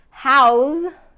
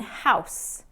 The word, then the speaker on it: house: have no use okay house and house we will house the the foreign exchange students and house this is my house that noun version form